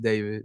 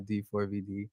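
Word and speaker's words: D4vd: um pronounced David, not D4 VD.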